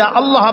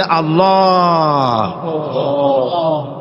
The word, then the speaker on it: আল্লাহ: আল্লাহ পাকের উচ্চারণটা হচ্ছে আল্লাহ পাকের নাম হচ্ছে আল্লাহ মুখটা একটু গোল হয়ে যাবে বলেন আল্লাহ আল্লাহ আল্লাহ পৃথিবীতে বিভিন্ন